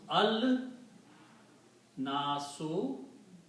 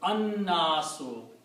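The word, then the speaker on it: النَّاسُ: So when you put al, two dhammas are pronounced as one, so it becomes al nasu. But again, it will be, because of the noon, la will not be pronounced, it will be an-nasu.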